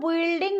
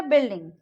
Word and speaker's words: building: देखिए जैसे कि यहाँ पे BUILDING, उसको हम बिल्डिंग नहीं बोलेंगे, यहाँ पे यू साइलेंट हो जाएगा, वो हो जाएगा बिल्डिंग.